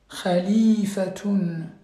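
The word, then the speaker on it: خليفة: Donc, le premier ici, calife, khalifatun, khalifatun, donc n'oubliez pas le ta marbouta, donc le T là, donc les deux points sur vos petits drapeaux, donc c'est un T, donc ça il faut bien le prononcer, d'accord, avec Dammaten, donc tun.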